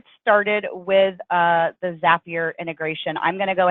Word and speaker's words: Zapier: And yes, it is pronounced Zapier. I know some people pronounce it Zapier, and when it first came out, there was